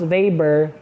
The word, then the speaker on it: Weber: then say max weber it is pronounced weber because he was a german and a german sociologist and see max weber